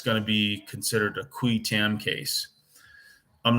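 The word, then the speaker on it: qui tam: again and it's going to be considered a kui tam case I'm not going to go into the cuetam case for you um you can look it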